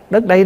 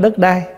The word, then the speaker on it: đất đây: Đất đây nè, đất ở đây nè, chứ không phải đất đai. Mình nói riết nó thành trại thành cái chữ đất đai, chứ đúng ra là mình phải đọc là đất đây, tức là đất này chúng ta đang ở.